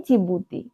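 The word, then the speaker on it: Djibouti: डी से बनता है जिबूती डी से जिबूती आपको लगेगा जी जे होना चाहिए लेकिन जिबूती की जो स्पेलिंग है वो है डी जे आई बी ओ यू टी आई तो ये है जिबूती तो इस तरह आप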